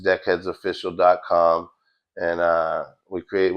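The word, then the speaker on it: Dekhedz: It's called Deck Heads Official. Um spelled a little different than like the normal way you would think. It's spelled D E K H E D Z.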